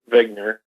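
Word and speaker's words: Wigner: the name of zner it's actually like he just spelled with a W uh but he's a his name is Dr Eugene vigner and originally back in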